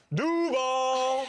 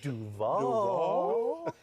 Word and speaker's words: Duval: Ever since Liam Cohen has been getting recommendations on how to pronounce Duval the right way. He went Duval.